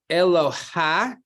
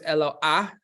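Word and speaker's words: אלוה: It's Eloha, but it's a dagesh in the hey, right? So it's Eloah is actually the proper way to pronounce it.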